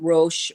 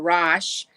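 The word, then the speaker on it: Rosh: If I can um comment a little bit here on you know you can pronounce it ro or rash.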